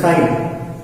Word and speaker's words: chi: It's like X, but it's not X. See, pronunciation of the symbol is chi.